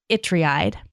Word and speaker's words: Ytreeide: This is the series by Arnold Itreide. His last name is spelled Ytreeide.